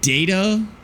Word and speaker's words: data: It should be data. I think the only time it wouldn't it would be data is potentially if it's a uh not an abbreviation an acronym cuz sometimes those vowel rules don't apply to acronyms but I don't really know exactly how that works so I'm going to keep saying data.